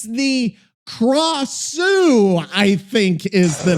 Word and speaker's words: Krasue: The name Gra or Craw, Sue as in Sue in Dr. Seuss in a rising tone, so it's Krasue.